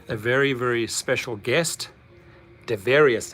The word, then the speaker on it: Devarius: So I have with me a very, very special guest, Devarius. Did I pronounce it right? Yes, you're correct. It's Devarius.